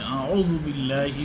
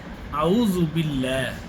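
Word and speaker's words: أعوذ بالله: প্রথমে যে ভুলটি করি আইন উচ্চারণ না করে আমরা বলি আউজু আউজু আউজুবিল্লাহ কিন্তু সঠিক উচ্চারণ হলো আউজুবিল্লাহ আউজু আউজুবিল্লাহ বিল্লাহ না বিল্লা বিল্লাহ একটু মোটা করে লামটা মোটা করে উচ্চারণ করতে হবে এবং আইনটি আইন আইন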